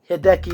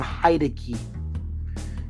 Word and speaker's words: Hideki: funky dealer by uh Hideki naganuma stuck in my head I used to pronounce his name haidi and I'm really upset that I did what the hell oh